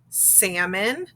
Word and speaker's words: salmon: that silent l and silent l follows vowels a o and u and when that happens the l is silent so we have words like calf salmon chalk and yolk do you hear how we never heard the l sounds in those and when we check